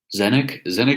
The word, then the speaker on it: Tzeentch: Zenek is actually spelled really differently. It's like TzeenTch, I think. It is quite a crazy spelling for something pronounced as Zenek.